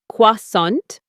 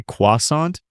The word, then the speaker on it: croissant: Americans usually say croissant or croissant. Yes, don't try to pronounce it with a strong French accent. In casual American English, just use the Americanized pronunciation. Just say croissant, and you're good.